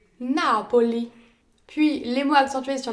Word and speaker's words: Napoli: Les mots accentués sur l'avant-avant-dernière syllabe, ils sont appelés les parole sdrucciole. Napoli.